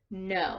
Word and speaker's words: know: letters all right so the word is know so when you have a word that starts with KN you only hear the n sound you don't here the K sound the KA sound okay alright we'll come